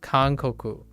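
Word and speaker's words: 韓国: Although this is pronounced kankoku. Kankoku for Japanese. But that's Hangguo. Hangguo for Chinese.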